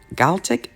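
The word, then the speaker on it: GALCIT: developing the V2 rocket and gave the galat galtic ga let me spell it g-a-l-c-i-t rocket research group now without Parsons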